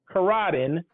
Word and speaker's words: Coradi: on with Karadin.